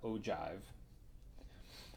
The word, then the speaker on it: ogive: drew this kind of graph is called an ogive so that's how you pronounce that oh jive so an ogive is a cumulative frequency graph